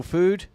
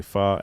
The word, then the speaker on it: pho: friends say fo but if you're asian you say far and you take offense to anyone who says foe but it's an amazing